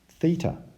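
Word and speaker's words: θ: It's actually pronounced theta, and it's a letter from the Greek alphabet.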